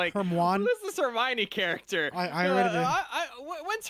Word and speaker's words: Hermione: as heroin and I was like this Hermione character I I I when's her heroin going to show up? I read it as Herm one. Yeah. See, everyone pronounced it weird in their heads.